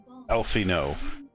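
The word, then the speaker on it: Alphinaud: worse I have already received wood from alfino alfino you can remember that's how you pronounce his name Alpha nov his founding particularly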